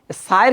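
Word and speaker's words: ث: সায়ের ক্ষেত্রে অনেক সময় আমরা ভুল করি, কেউ পড়ি আমরা চা, কেউ চা। এটা রাইট উচ্চারণ না, সঠিক উচ্চারণ হবে সা, একটু পাতলা হবে।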